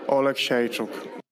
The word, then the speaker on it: Oleksiejczuk: That's close. He says like a chook at the end. Right. Michał Lord Oleksiejczuk. Oleksiejczuk.